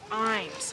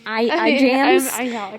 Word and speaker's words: Ijams: You see, I-J-A-M-S, but it's pronounced Imes. Why Yeah. did you put the J in there? See, they like to Just make for it the fun of it? complicated. I think so. Sarah called it iJams. iJams. Yeah, but it's not pronounced iJams. It's Imes.